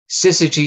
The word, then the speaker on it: syzygy: on slooh is right here in this workspace sigy central that's how you say that word if you haven't uh heard it pronounced before it's actually Greek word in in